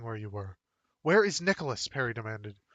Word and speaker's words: Nicholas: "Where is Nicholas?" Perry demanded. She pronounced the name Nicola.